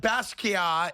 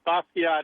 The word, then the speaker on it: Basquiat: I'm being told now that Basquiat is actually a hard T, and it's not French.